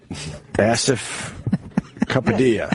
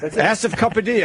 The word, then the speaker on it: Asif Kapadia: Asif Kapadia. Asif Kapadia. I'm going to go with that. Is that? No, it's Asif.